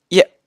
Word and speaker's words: 一: 差不多，但是宁波话这个发音会相对急促一点，是发成耶耶耶。